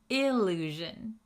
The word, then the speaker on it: illusion: Allusion versus illusion. Listen to that pronunciation difference. Allusion, illusion. Can you hear the difference?